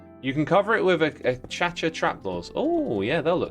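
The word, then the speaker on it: acacia: You love how I say a cha-cha. I know, right? Like, so many people say it the wrong way. It's infuriating. It's cha-cha, people. Come on. Like, look at how the block is spelt.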